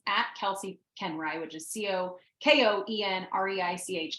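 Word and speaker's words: Koenreich: Instagram it's at Kelsey kenry which is CEO k-o-e-n-r-e-i-c-h it does not sound like it is spelled I had to learn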